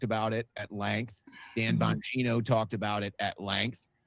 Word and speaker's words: Bongino: Bongiorno, I keep saying his name wrong. Bongino, whoever, he was just an underling somewhere along the way.